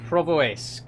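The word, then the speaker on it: Pervomaisk: Uh, Provoisque is the pronunciation. Thank you, King of BPL. Woo! Red light. Provoisque. Wait, so is the M silent? There's an M in there. Weird. I've never seen a silent M before, but I'll I'll take your word for it.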